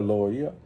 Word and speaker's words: loia: And it's funny in class, like we made a soy a lawyer, like just to help pronounce it right, like soia means to stop, right? Soia, loia.